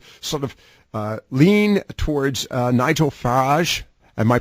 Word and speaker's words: Farage: of lean towards Nigel Farage. Am I pronouncing his last name correct? Nigel Farage. Yes. Farage.